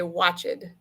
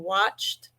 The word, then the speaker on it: watched: your youtubers in english point that out that edie words make sure that they're saying watched sometimes it sounds like it